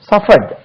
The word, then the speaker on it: suffered: சஃபர், வருந்து, சகி, துன்பப்படுவது, சஃபர், SUFFER, சஃபர், சஃபர்ட், SUFFERED, இது சஃபர்ட் என்று உச்சரிக்க கூடாது, சஃபர், சஃபர்ட், சஃபர்ட், SUFFERED, சஃபர்ட், suffering, SUFFERING, suffering, suffer, suffered, suffered, suffering, right, suffer, suffer, suffered, suffered, suffering.